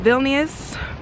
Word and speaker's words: Vilnius: want to see a really good view of vilnius vilnius it's sad that i'm here y'all and i'm still struggling to pronounce the name but vilnius um we want